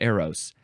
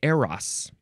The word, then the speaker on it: Eros: hm I always said Aeros but uh it's saying technically appropriately correctly that it's AAS or IRAs I guess that's the better Greek pronunciation so let's try to say it that way AOS noun from The 14th